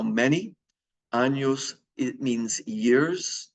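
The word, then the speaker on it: años: it means how many anos it means years the N with the line over it is pronounced like an N Y anos and there's our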